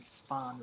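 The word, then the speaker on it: Spohn: Spawn is how they pronounce it.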